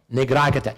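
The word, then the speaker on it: 'Ndrangheta: Now, how do you pronounce this? Ndrangheta.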